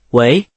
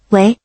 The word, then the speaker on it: 喂: 会说，就是喂。喂。对，注意声调，是第二声，喂，像一个问题。喂。